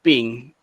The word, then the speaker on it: PNG: the lossless image ibxabihan png or ping as it is pronounced is better compared to